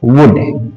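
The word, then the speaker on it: would: इसको शुल्ड नहीं पढ़ेंगे, इसको वुड नहीं पढ़ेंगे। इसमें एल साइलेंट रहता है, इस सभी में क्या करना है, एल को रखना है साइलेंट, यानी कुड शुड वुड।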